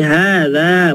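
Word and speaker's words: هذا: ini h-nya ingat ya setiap Isim isyarah itu h-nya panjang walaupun enggak enggak berdiri fathahnya ya jadi hadza bacanya gitu harakat hadani hadza ini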